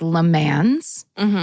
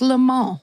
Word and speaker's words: Le Mans: So here in America, this word looks like Le Mans. It is French pronounced, obviously. It's a French word. And it's pronounced Le Mans.